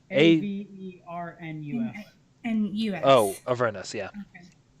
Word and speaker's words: Avernus: Okay, can someone spell that just so I get it right? Avernus.